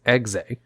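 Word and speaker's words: Exe: few cards that was given a pronunciation guide on how to say its name as xay but it was given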